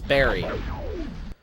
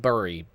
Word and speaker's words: bury: It's Barry. Not Burry. Barry. Why do so many people get it wrong? I know it's spelled B-U-R-Y, but it's actually pronounced buried, as in B-E-R-R. I-E-D.